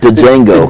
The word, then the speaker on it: Django: The Django. D is silent.